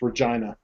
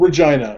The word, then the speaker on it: Regina: calls where he the guy lives Regina it's Regina just saying it rhymes with a few words um but it's called Regina that's it's you know they say it wrong